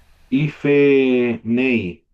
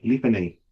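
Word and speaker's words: לִפְנֵי: Ife nei. Sería No, aquí, life nei. claro, el Cheva aquí no se pronunciaría.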